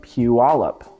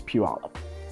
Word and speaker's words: Puyallup: Puyallup, yes, it's pronounced Puyallup, not whatever else somebody thinks it's pronounced as. I've heard it pronounced tons of different ways. It's Puyallup.